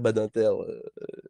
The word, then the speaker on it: Badinter: sais pas quoi je ne peux pas le prononcer autrement que que comme ça tu vois c'est c'est c'est Robert Badinter cher ami en tout cas oui donc la